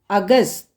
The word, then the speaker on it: अगस्त: 15 is called 15 in Hindi and August is pronunciated as Agast. Agast.